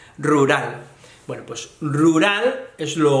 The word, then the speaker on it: rural: en un lugar rural esta es difícil pronunciar la de fijos porque la doble r la r vibra mucho en español y luego la r - vibrante pero es rural rural bueno pues rural es